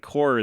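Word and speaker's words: corps: And core this way is spelled with a P and an S for like the group like a core of engineers or something.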